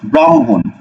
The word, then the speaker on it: ব্রাহ্মণ: হ ম আমরা দেখতেছি হ যুক্ত বর্ণগুলো পরের বর্ণটা আগে উচ্চারণ হয় তারপরে উচ্চারণ হয় হ ঠিক আছে তাহলে এই জায়গাতে আমরা কি উচ্চারণ করব দেখো বয়ফল আকার কি ম্রাম হই শিকারে হি ব্রাহ্মী ঠিক আছে আচ্ছা এবার দেখো ব্রাহ্মণ বৈরফ আকার ম্রাম হকার দন্তন্য হুন ব্রাহ্মণ ঠিক আছে এরপরে দেখো